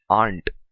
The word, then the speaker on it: aren't: और एक बात ध्यान में रखनी है, don't pronounce it एज आरंट, से इट aren't.